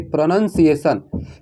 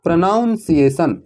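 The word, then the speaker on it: pronunciation: प्रनंसीएशन इसको नहीं परेंगेi प्रनंसीएशन है ना की प्रोनॉन्सिएशन लोग अक्सर गलती करते हैं हां यह बात सही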